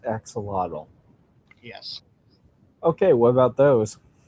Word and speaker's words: axolotl: First off, is it pronounced axolotl?